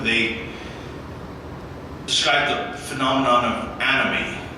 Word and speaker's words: anomie: They described the phenomenon of anomie, it's spelled A-N-O-M-I-E.